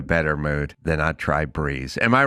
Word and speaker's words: Brez: Meet Breeze, spelled B R E Z, pronounced Breeze.